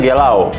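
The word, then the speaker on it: galão: Sebenarnya galau itu dari bahasa slangnya Portugal. Sebenarnya dia apa namanya? Pronounce-nya sebenarnya gelau. Dia ada tanda kutipnya itu kan. Iya, ada kutip di atasnya ya.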